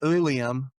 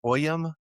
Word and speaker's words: Uilleam: Okay, it it's pronounced Ulium. It's spelled ui lam and it's old German Scots Scots Gaelic and Irish Gaelic for William. Now the older, as I understand it, the old German and the Irish Gaelic pronunciation is Ulium, while the Scots uh pronunciation is OM.